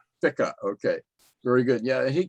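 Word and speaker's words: Ficca: Am I pronouncing his name right? Fica.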